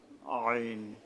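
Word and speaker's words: عين: জ এরপরে আমরা আসবো আইন আইন উচ্চারণটা হলো জিহ্বা মাঝখান থেকে তালু আছে উপরে ওখান থেকে মানে হলকের মধ্যে গলা চেপে আদায় করতে হবে আইন আইন অর্থাৎ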